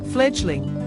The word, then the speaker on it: fledgling: for its place rhymes with duckling a young duck that's referring to an experience fledgling synonym Apprentice neophyte